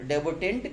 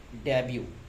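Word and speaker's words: debut: डी ई बी यू टी तो बहुत सारे बच्चे इसे डेबर्ट पढ़ते हैं। कुछ बच्चे इसे डेबुट पढ़ेंगे। बट this is the wrong pronunciation it इज डेब्यू डी ई बी यू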